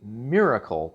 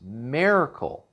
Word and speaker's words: Maircle: of an unusual name you kind of want to say Miracle but that's not how it's spelled it's Miracle so I was able